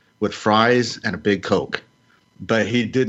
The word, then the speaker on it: Coke: He said, I'll have a hamburger with fries and a big Coke. But he did not pronounce the vowel sound in Coke like you would in broke or soak.